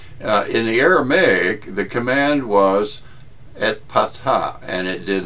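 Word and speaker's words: Ephphatha: By the way, Ephatha is pronounced Ephatha. I'll mess it up anyway, for those who care. In the Aramaic, the command was et patha, and it did not simply involve cleaning out the fellow's closed-off ears.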